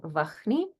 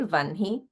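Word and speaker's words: वह्नि: So instead of saying Vahni, we say Vanhi.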